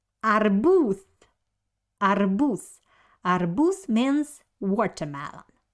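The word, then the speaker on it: арбуз: adding our boots so we write letter the but pronounce it like s arbus because uh at the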